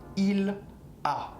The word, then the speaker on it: il a: Il a. Same sound. Il a, tu as, exactly the same sound.